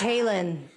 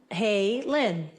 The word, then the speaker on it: Halen: It's Halen, like that. Hey, Lynn.